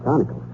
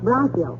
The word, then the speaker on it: bronchial: The word is bronchial, dearie, and it's pronounced bronchial.